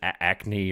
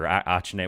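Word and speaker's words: Achane: I think he changed the way he pronounces it, Acne or Achne, whatever. A-Chain. I think it's A-Chain.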